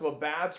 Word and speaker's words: Labatt's: Labatt's is a Canadian beer, pronounced Labatt's, Greg.